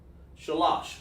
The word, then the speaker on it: shalash: So because of paleo connectors, it helps me pronounce the number, shalash. So you say sha, lash. Sha independent connector, and then lash.